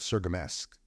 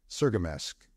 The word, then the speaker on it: Cirgamesç: At Riker's planet, they make connection with the feeder line out of Sergamesk." "Wait a minute," said Catlin. "How did you pronounce that?" "Sergamesk.